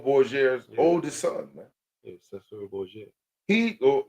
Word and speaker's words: Cesare: He, in their language, in the Spaniard, you would pronounce it Cesare. Yeah, Cesare. But in, I guess, the King's English, they pronounce it Caesar Borgia. But it's Cesare Borgia in Spaniard, because that's what he was, right?